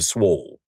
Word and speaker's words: swole: So, but when you annunciate that one syllable word, no one's really uh you don't hear them annunciating the L in swole. So, I respled it the way it sounds when we say it.